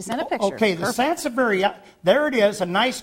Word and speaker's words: Sansevieria: Well, you're going to have to tell me how to pronounce that, Jerry. Sansevieria.